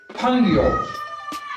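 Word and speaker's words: 朋友: It's Pangyo. P. In Chinese language, P is pronounced as P, P-E-N-G.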